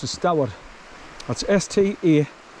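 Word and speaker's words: Staward: Now Stoward, you know, if you pronounce it the way we would say S-T-A, Star Ward, it's not what we pronounce as Stoward. That's S-T-A-W-A-R-D, Stoward.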